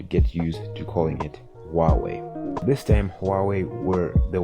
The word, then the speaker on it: Huawei: I remember back then I used to pronounce it as Huawei, like Huey, in a much more funny way, and other people used to call it Hawaii, which is just crazy to say the least.